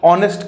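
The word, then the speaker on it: honest: वहीं पे हमने बोला कि ऑनेस्ट, तो ऑनेस्ट किसके साथ शुरू हो रहा है, अ के साथ,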